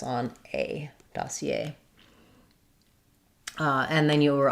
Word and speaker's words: dossier: So, dossier. Um we give some secondary stress to the da syllable though.